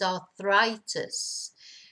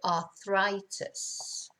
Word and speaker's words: arthritis: So, la arthritis en español, in English, is arthritis. Pronounced differently, arthritis.